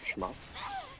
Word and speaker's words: shmup: Please pronounce it right. Back to shmup. Back to shmup, right.